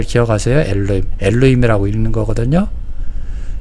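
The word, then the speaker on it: אלוהים: 엘로힘이라고 읽는 거거든요.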